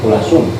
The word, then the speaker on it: Kula Soem: Kedai Kula Soem. Kulasum. Oh, Kula Soem eta teh ya. Kulasum. Oh, jeung teh jadi ejaanna teh gitu.